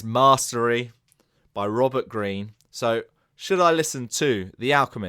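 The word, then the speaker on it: Greene: to pronounce that one although it's got an e on the end it's not going to be greeny I know that it's green Robert Green and it's narrated by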